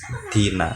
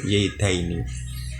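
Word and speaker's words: زيدين: Nah, itu kawan-kawan, tapi kita bacanya daini ya kawan-kawan, bukan dina tapi tetap zaidaini. Nah, itulah isim tasniyah dengan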